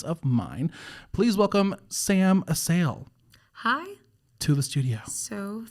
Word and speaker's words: Assael: recent new acquaintance of mine please welcome sam a sale hi to the studio so thankful to be